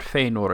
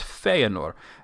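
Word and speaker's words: Fëanor: oos it's a maos but if there was an accent on that e it would be different like feanor it's not feor it's feanor and that's what that those two little dots mean token also wrote a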